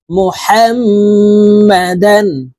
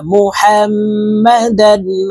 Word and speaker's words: محمدا: এই হা তাসদীদওয়ালা মিমের সাথে গুন্নার সহিত পড়ব। এই হার উচ্চারণ হলকের মধ্যখান থেকে পড়ব, কারণ হার মখরাজ হলকের মধ্যখান থেকে হবে। মুহাম্মাদান, وأشهد أن محمدا عبده ورسوله।